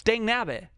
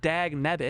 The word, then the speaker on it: dang nabbit: It's dang nabbit, not dag nabbit.